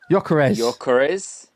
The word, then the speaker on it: Gyökeres: Gyökeres.